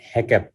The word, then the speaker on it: HACCP: so Hazard analysis critical control point, এটা অনেকে হ্যাকআপ বলে, অনেকে হ্যাসাপ বলে, বাট হ্যাকআপ এটা হচ্ছে real pronunciation, is an internationally recognized